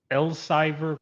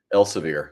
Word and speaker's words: Elsevier: Now you were a director of business technology at, if I'm pronouncing this right, Elsevier Company. Elsevier.